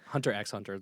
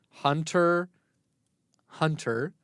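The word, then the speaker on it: Hunter × Hunter: I'm I'm How to pronounce Hunter. Hunter. The corre The correct pronunciation is Hunter. Hunter with the X being silent.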